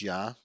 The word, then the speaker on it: Ea: his name was IA and Acadian which is pronounced ya his rituals involved holy water and his symbol